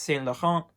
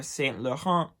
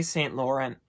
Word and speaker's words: Saint Laurent: Yves Saint Laurent, but they have shortened their name now to just Saint Laurent or Saint Laurent if you want to pronounce it in an English but still correct way. Just don't say Saint Laurent or I will not be able to sleep at night.